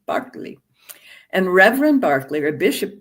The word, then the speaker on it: Berkeley: in England, an Anglican bishop whose name is pronounced George Barkley, if you're British, not Berkeley, Barkley.